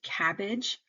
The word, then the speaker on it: CABG: and with this one the abbreviation cabg is spoken as a word cabbage and you would usually say